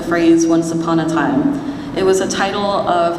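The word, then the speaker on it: Wansapanataym: upon a time but it's spelled a little funny follow me w n sa a p a n a t a y m Once Upon a Time which is a philippin isation of the phrase once upon a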